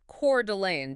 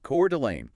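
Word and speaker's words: Coeur d'Alene: Today we're heading up to northern Idaho taking a close look at the retail market in Curelane. And that's pronounced Core Delane, just so everyone's clear, right? Cord Delane.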